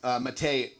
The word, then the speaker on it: Mate: Last name is Mate, M-A-T-E.